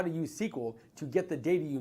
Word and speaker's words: SQL: stands for query language it is pronounced sequel it's a language that